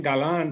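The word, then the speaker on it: Galán: And my last name, Galan, there's an accent on the second A, and that's a term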